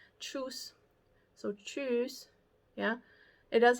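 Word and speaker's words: Tschüss: most like universally accepted is truce and they'll say choose it's spelled very strange but it's almost pronounced like choose yeah except it's within uh um not voice s truce so choose yeah it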